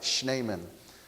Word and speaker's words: Schneemann: Now, let's see, I'm going to pronounce it right. This good German name, Schneemann? Schneemann, I got it, Schneemann.